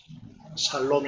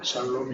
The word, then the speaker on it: 샬롬: 나니 넘 실기를 축복합니다 이럴 보세요 그것을 한마디로 살롬 이라고 알아줘 c 않고 마찰로 이렇게 해서 하시면 좋겠습니다 그 발음을 잘 하셔야 됩니다 사람은 몹 이라고 하나 내고 샬롬 이라고 전하는 하셔야 될것 같습니다 이제 다음 으